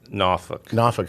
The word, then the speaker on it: Norfolk: came along late um and grew up in NOFK and I guess we moved to Norfolk and you almost said it. NOFFK is how you pronounce it.